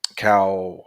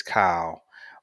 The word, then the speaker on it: Kyle: this past game um Cal Hamilton and I know somebody corrected me I know his name is Kyle but it was just